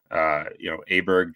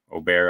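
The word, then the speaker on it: Åberg: We've seen it with Aberg turning Aubert, I guess is the proper pronunciation, turning pro so quickly and winning.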